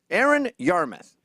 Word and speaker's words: Aaron Yarmuth: want to pronounce your name correctly can you pronounce it for us sure you're Aaron Yarmuth now Aaron you've been on the news recently